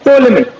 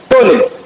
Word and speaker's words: टोलेमी: उसके बाद आते हैं टोलेमी, जैसे कि इनने कहा। ठीक है, पी से शुरू होती है इनकी स्पेलिंग, तो पी is silent. टोलेमी, okay, अब ठीक है?